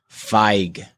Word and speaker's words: Feig: Feig is actually pronounced Feig.